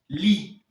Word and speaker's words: gli: Li. Vous vous demandez simplement pourquoi on prononce ça li et non gli. Parce que là, dans ce cas-ci, G-L-I, le G ne se prononce pas.